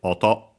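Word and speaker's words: 音: Is accent on the last syllable by the way. Otto.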